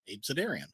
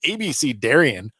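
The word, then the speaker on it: abecedarian: it pronounce it so I'm like abidian AB cidarian I'm like that's a cool sounding looking word so I looked it up I'm like okay that's a good one I can use that and I'm like I better I better look how to pronounce that and it's like ABC Darion it's in the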